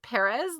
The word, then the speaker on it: Perez: have to understand that it's perez like spanish but he's in scotland and so there's a thick accent there's a thing with